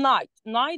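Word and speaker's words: knight: اسمه ايه اسمه ده بحط قبل كلمه نايت كي تمام كده بس هي ما بتتنطق الكي دي هنا ما بتتنطق فانا بقول ناي ناي ده هو الفارس تمام جي اكتبها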